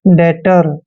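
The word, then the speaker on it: debtor: टी ओ आर दोस्तों टी से पहले जब भी बी आता है बी का उच्चारण हमने नहीं करना है डी को हमने ड पढ़ना है ई को ए की मात्रा पढ़ते हैं बी का उच्चारण हमने नहीं करना है टी ओ का उच्चारण ट करना है और आर को र पढ़ते हैं डेटर दोस्तों डेटर होता है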